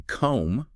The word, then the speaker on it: comb: Comb. Like for your hair, that O sounds like the O in go or home. Comb.